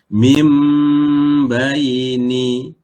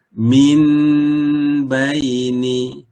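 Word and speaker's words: مِن بَيْنِ: Maka bacanya mim baini, huruf nun digantikan dengan huruf mim. Mim baini. Kita tak boleh baca min baini.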